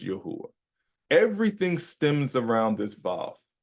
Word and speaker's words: Yahuah: When I read this through my investigation and through my studying, I pronounce it as Yahuwah.